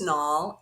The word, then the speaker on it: Nall: My last name is Nall, Nall, and I'm a bit of a wordsmith and a punster.